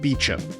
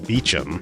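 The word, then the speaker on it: Beauchamp: This guy, whose name is spelled like this, but apparently pronounced Beecham.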